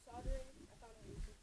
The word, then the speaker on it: solder: Apparently it's pronounced soldering.